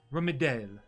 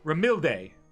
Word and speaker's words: Ramilde: Yes, hello, my name is Ramidel. Sorry, I said her name. Goddamn it, I said her name wrong. Ramilde.